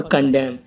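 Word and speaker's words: condemn: और ऐसे ही और एग्जाम्पल हैं, जैसे हिम, ऑटम, डैम और कंडेम। इन सब में एम के बाद एन आया हुआ है तो एन साइलेंट है।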